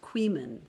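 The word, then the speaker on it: Coeymans: Oh, Queeman. Deborah Chessman says it sounds like C-O-E-Y, man, pronounced Queeman.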